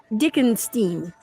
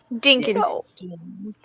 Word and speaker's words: Dinkenstein: Well, actually, von Dickenstein. Did I say it right? Dinkenstein.